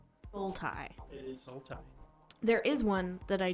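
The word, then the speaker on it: Sultai: uh black green blue starts with a s rhymes with multi Soul tie it is soul tie there is one that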